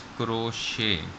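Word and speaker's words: crochet: लेकिन इसे आप रोटी पढेंगे करो छह पिसिस क्रोशे कि इस कमिटी साइलेंट है और क्रोशे कढ़ाई का एक डिजाइन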